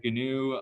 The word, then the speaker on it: GNU: movement this organization uh you pronounce the g gnu so that's how